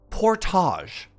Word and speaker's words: Portage: through all of Winnipeg this is a French word it's pronounced Portage and Portage refers to